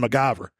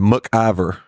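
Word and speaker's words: McIver: That y'all were shooting MacGyver, Yeah. which was down in Sardis. You said it too. What? MacGyver. How do you say it? And MacIver. MacIver? Yeah. Okay. It's no G.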